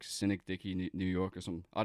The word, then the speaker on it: Synecdoche: Who's like Cynic Dicky New York or something. I don't know how to pronounce the first word. Oh yeah, Synecdoche.